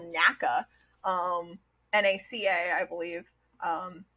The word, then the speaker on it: NACA: is that back then they actually just pronounced as NACA they didn't even think of doing the they didn't call it naka yeah you would think